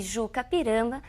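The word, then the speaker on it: I-Juca-Pirama: um termo de origem indígena nos inscrevemos e Juca pirama Mas pronunciamos e o k significa aquele que vai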